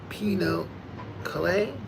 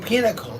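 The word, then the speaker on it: pinochle: Oh, pinnacle. Got it. Got it. That's how you say pinnacle.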